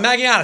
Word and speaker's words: Magallanes: I mean, Magallanes, that's the way you pronounce it.